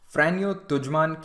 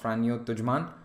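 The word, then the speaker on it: Franjo Tuđman: Croatia and Slovenia during these elections in Croatia frano tujan came to power that is how his name is pronounced frano tujan he was a nationalist Croatian leader he said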